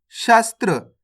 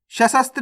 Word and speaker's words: शस्त्र: कैसे पढ़ेंगे अपन इसको, शस्त्र। सशस्त्र नहीं पढ़ना, शस्त्र।